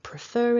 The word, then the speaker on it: prefer: with a vowel and so this little tiny linking r prefer it writ it kind of pops up and attaches itself between the two words prefer it but if